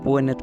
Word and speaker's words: Pwenet: Another suggested pronunciation for Punt by the ancient Egyptians is Puenet or Puen, which could potentially correspond